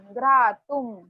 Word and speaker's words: घ्रातुं: जहां पर भी अनुस्वार दिख रहा है उसको म प्रोनाउंस करना है। श्रोतुम, सुहास्यम, घ्रातुम।